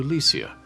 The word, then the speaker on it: Alicia: her given name to Alicia [in her case, pronounced “Al-LEE-see-ah”].